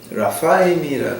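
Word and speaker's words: רפאים: 르바 족속을 갖다가 이제 우리가 이걸 갖다 아마 한문이 한글로 됐으니까 이제 르바라고 발음을 하시는 모양인데 이건 이제 히브리어로 보게 되면은 라파임이라 그래. 라파임.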